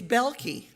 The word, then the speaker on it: Belkey: My last name has been mispronounced my entire life. Me too. It's Belkey.